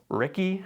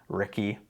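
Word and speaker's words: RCKI: Ricky, or R-C-K-I, is ruby crowned kinglet.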